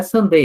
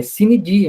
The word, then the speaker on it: sine die: Não é Sunday, é sine die, não é em inglês, é em latim, tá?